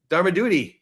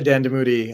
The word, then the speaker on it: Dandamudi: Dharmadudi. And I butchered your name. I had it right the first time. Sorry about that. Thank you, Steve. No, my name is Dandamudi.